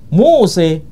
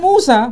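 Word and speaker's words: موسى: Bagaimana namanya Muse? I kan jelas kan? Muse bukan Musa.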